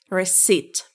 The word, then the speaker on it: receipt: It's receipt. Receipt. So P is silent here.